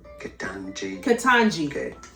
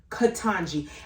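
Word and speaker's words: Ketanji: interesting little fun confusing names there are many mispronounces to the channel how do you say it katanji brown brown jackson the tanji katanji and i've heard it for weeks so shame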